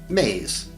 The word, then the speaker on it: Mies: because it is the backbone of all belief systems, which we will call Mies, pronounced maze.